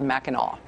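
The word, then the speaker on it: Mackinac: Okay, so to be clear, the think tank in Michigan, like the island, is called Meno.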